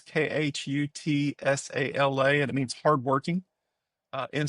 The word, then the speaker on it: Khutsala: So Kutsala is Khutsala, and it means hardworking in Siswati.